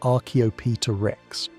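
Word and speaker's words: Archaeopteryx: One of the most famous examples is Archopterix. Say it like Archopita Rex.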